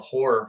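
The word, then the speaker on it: HO99O9: like when I bought this other band called Horror. Horror is spelled HO9909 and they kind of like Bad Brains meets meets uh I don't even know.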